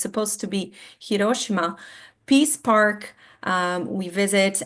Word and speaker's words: Hiroshima: And I know here a lot of times we will say Hiroshima but that's actually not how you pronounce it because Japanese they don't really have the accent. So, it's supposed to be Hiroshima Peace Park.